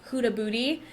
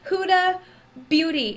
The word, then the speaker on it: Huda Beauty: I said it right this time. Usually I'm like Huda Booty. Huda, I cannot. Huda Beauty. It's too close together. I cannot do it.